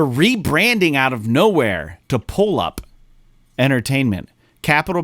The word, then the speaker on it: PulluP: And it's spelled completely different, but I saw PulluP and I said it in my head, and in the way that the last P is capitalized, I pronounced it weird in my head and it sounded like polyp. And I'm like, what the fuck is this?